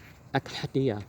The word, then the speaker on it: Accidie: Oh, how do you pronounce Accidie? Accidia, okay.